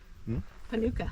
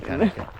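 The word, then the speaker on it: kānuka: What's this tree, big boy? It's a Panuka. No, it's a Kanuka.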